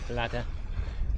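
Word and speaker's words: Pladda: I think I pronounced it right, Bladder, with a P.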